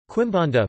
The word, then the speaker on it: Quimbanda: Quimbanda Portuguese pronunciation, KBD, is an Afro-Brazilian religion practiced primarily in the urban city centers of Brazil.